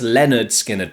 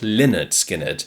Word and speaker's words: Lynyrd Skynyrd: And yes, it's Leonard Skinnard, by the way, not Leonard Skinnard. And we know that because of their debut album, pronounced Leonard Skinnard.